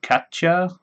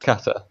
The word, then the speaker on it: Cata: Today we are here with Cata or Katja. Am I pronouncing that correct? Cata.